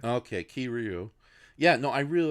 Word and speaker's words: Kiryu: Like I really do like Kiru. Damn it, did I say his name wrong? Kiryu. Kiryu a lot. So Kiru. Yeah. No, Kiryu. Kiryu. It's 3 syllables.